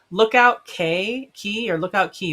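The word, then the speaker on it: Lookout Cay: Oh, Lookout Key, but it's spelled K.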